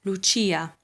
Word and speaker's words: Lucia: half of the name the c coming after the i makes a ch sound this name is not